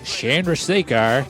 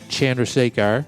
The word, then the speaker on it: Chandrasekhar: music shout-out to Jay Chandrasekhar I guess it's Chandra that's what he said it like right okay yeah I